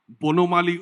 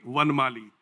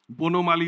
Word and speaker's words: Bonomali: His grandfather, Murari Ojha, and his father, Bonomali Ojha. If I pronounce it in the Hindi way, it will be Vanmali, Bonomali Ojha.